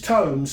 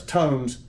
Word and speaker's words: Tomes: Well, it's Tomes. So it's T-O-M-E-S. That's Tomes.